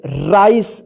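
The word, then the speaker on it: rice: आर आई सी ई राइस, देखिए यहां पे लास्ट में क्या है ई है और इससे पहले क्या है सी, यानी सी के बाद ई है तो इस सी का स उच्चारण हुआ है।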